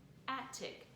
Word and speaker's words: attic: again act and tick when i said it i didn't make that t sound twice because what happens in the middle of a two-syllable word is that if there are if the consonant is the same it kind of takes that 111 sammy rule on and sounds like one sound a tick attic attic so you only hear that t sound once so be watching for